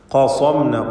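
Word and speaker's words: قصمنا: ഖസംന, ഖാഫിനും സ്വാദിനും തഫ്ഖീം നൽകി സ്വരഭാരത്തോടെ ഉച്ചരിക്കണം.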